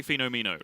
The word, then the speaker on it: Fenomeno: Right, and if I ever say it long form, I'm going to say Fenomeno. Like, that's just how my brain pronounces... Like, that is not the word phenomenal.